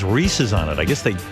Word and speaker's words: Reese's: Breezies peanut butter cups wheezy's that you didn't hear - Reese's I thought it was